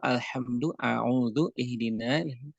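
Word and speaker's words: الحمد لله: berkaitan Hamzah di dalam al-hamdulillah dan Allah Disini hamzahnya ada Hamzah di situ dia dibaca dengan tipis dia dibaca dengan tipis jadi ini sebuah catatan tersendiri untuk pengucapan Alhamdulillah nah demikian pula hadir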